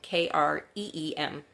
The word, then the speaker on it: Kreem: It sounds like cream, Kreem.